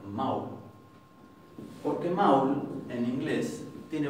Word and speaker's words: mál: Esto lo que está diciendo es que esto no se va a pronunciar mal, sino que se va a pronunciar maul.